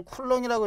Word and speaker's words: 쿨롱: 그 양을 나타내는 걸 우리가 전하 전하량 또는 전기량 뭐 이렇게 좀 표시를 해 주고 기호로는 Q로 표시하고 단위는 C라고 표시하고 얘를 쿨렁이라고 읽어.